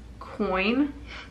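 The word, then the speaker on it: quoin: here this is in coin coin it's spelled weird though it's like q-u-o-i-n coin coin quinn coin so we're just gonna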